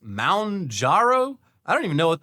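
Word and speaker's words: Mounjaro: Uh, munjaro. Oh, pronounced moundaro.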